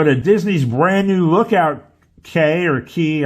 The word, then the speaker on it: Cay: Disney's brand new Lookout Cay or Key. I think it's Lookout Key at Lighthouse Point. I always get messed up by that because it's not how Key should be pronounced, but it is what it is.